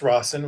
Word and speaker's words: Rossen: And Adam's a principal at Rossen Law Firm, criminal attorney in South Florida, and it's pronounced Rossen with two S's. It's not not Rose.